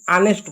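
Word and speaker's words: honest: ठीक है, जैसे देख सकते हैं, और हो गया, ऑनेस्ट हो गया, इसको ऑनेस्ट नहीं ऑनेस्ट पढ़ते हैं, इसको गोस्ट पढ़ेंगे। यानी यहाँ पर आपको एच जो है साइलेंट दिखेगा, या तो एच का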